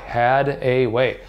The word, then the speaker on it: Hadaway: h8 a waa why had a way just like it sounds that's how it's spelt